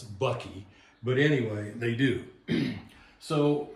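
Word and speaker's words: bakkie: They're called buckies. And if I told you how they were spelled, you'd really weird out. They're spelled B-A-A-K-I. And I don't know how they pronounce something like that as bucky.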